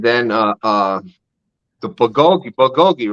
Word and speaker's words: bulgogi: we're banging and then uh uh the bulgogi bulgogi right am I saying it right yeah yeah